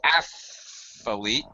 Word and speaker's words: athlete: For athlete, 2 syllables. Athlete.